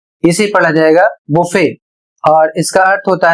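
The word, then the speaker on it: buffet: अगला शब्द है बी यू एफ एफ ई टी अर्थात बी U double F ई टी इसे पढ़ा जाएगा बुफे और इसका अर्थ होता है स्वयं सेवा भोज और यहां पर कुछ कॉमन स्टैंडर्ड वर्ड्स में क्रिसमस जैसे शब्द हैं।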